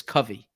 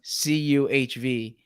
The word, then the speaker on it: Covey: And I say Covey, it's Covey. It's Covey. Yes. Cuhv. Covey.